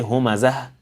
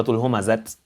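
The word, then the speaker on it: همزة: If we were to stop on this, we would say humazah, lumazah. That's why the surah is called Surah Al-Humazah, not Surah Al-Humazat.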